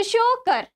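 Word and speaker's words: Tsokar: ठीक है, शोकर, जैसे आप ये शांगपू रिवर था जिसमें आगे में TSANGPO था, तो उसको टी को साइलेंट करके हम लोग उसको शांगपू पढ़ते थे। उसी तरह ये क्या, शोकर।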